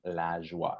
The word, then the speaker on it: LaJoie: If you're listening, please say the last name with me because it's a lot of fun. LaJoie. Am I saying it right? Yes, you are.